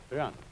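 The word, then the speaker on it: 仁: Although when we Romanize this word in English, we spell it J-E-N, it's pronounced Ren. Sort of like rolling an R, or rather saying R but not rolling it.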